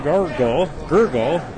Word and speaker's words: Gurgala: found out that Jair Gurgala is from Brazil. Okay, so that I did pronounce that correctly, Gurgala. I did, Yeah, so Jair that is. Gurgala. So it would be Gurgala. So I was correct.